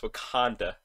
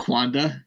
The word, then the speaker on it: Wakanda: getting us canceled or the fact that you mispronounced wakanda so kwanda yeah yeah yeah there